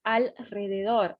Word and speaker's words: alrededor: Estavam alrededor, aqui ó, alrededor, pratiquem essa pronúncia comigo, alrededor, alrededor, alrededor, alrededor, alrededor, alrededor, ¿está bien?